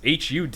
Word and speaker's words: HUD: And how would you pronounce that as an acronym? HUD.